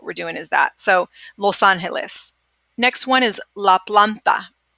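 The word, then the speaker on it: Los Ángeles: Remember we talked about earlier too in class that we combine these two sounds, all right? So we don't separate it. We don't say los and then Angeles. We pretend like it's all one word, and we really what we're doing is that, okay?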